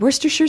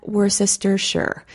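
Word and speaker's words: Worcestershire: er and for the record i double-checked and werster sure sauce is also the correct pronunciation not worse Esther sure so I'll put that one in the kitchen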